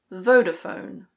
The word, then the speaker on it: Vodafone: In British English this one is Vodafone. Voda-fone. Vodafone. In American English it's Vodafone. Voda-fone.